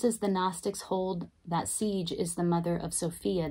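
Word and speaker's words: Sige: It is pronounced siege.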